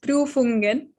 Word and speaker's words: Prüfungen: So in German, exams are known as Prüfungen. Some German language lessons for you. The U with the two dots on top, which are called the umlaut, are pronounced as U. So it's Prüfungen.